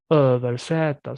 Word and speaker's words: översätta: So it's composed out of two words, or like översätta, översätta. So here was sätta, which means translating, right? Okay. Översätta, right? So in this case, we're stretching both here.